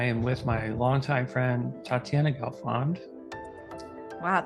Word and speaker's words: Tatyana Gelfond: with my longtime friend Tatiana gond wow thanks for pronouncing that correctly was it right I'm yeah most people say tat or something weird like that I have no idea